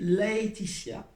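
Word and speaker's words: Laëtitia: Soit je l'écris L-A-E, tréma sur le E, et ça doit se prononcer Laetitia.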